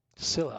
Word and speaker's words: Scylla: Scylla. Finished up beached at the entrance to the harbor. That's how you pronounce it.